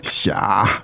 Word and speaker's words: 傻: 你好傻，你好傻， So the word 傻 meaning third tone, right?